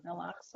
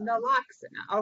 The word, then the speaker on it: Naloxone: Who can pronounce this for me? Naloxone. Naloxone. Naloxone.